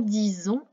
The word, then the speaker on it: disons: Faites bien attention également à nous disons, on ne met bien qu'un S afin d'obtenir le son z.